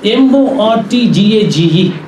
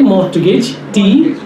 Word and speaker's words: mortgage: of us do say more to get tea it's a French word it should be mortgage why I say it